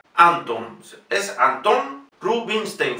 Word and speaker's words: Rubinstein: Es Anton Rubinstein. Fíjense ahora, la S no es una S, sino una SH.